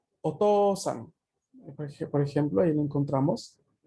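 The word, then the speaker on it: お父さん: Mientras que OU se va a pronunciar una O larga. OU es Otosan.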